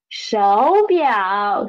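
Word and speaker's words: 手表: So the correct pronunciation of it is shou biao shou biao.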